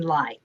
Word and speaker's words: Lai: evening um what i do basically is i pronounce my name for people that is my job so and then lie so i've written two middle grade novels and